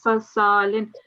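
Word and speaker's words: صَلْصَالٍ: Don't do this because we've got a sakoon, so it's just salsalin.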